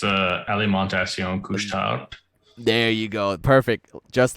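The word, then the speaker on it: Alimentation Couche-Tard: pronounce this steven will have a better time pronouncing this it's uh ali montacion couch town there you go perfect just like that uh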